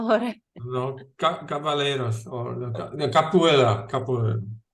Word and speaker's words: Capoeira: No, Cavaleros or no, Capoeira. Capoeira.